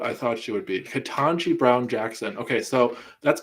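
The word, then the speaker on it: Ketanji: um yeah wow katanji is that how you say her name i keep thinking ketamine but it's kitanji brown jackson officially nominated the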